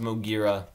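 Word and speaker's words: Moguera: but to like a lot of people, it's pronounced Mogira.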